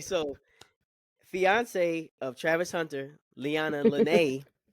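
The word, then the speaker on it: Leanna Lenee: man so okay so fiance of Travis Hunter lyanna Len lyanna Len is it right I think you're saying it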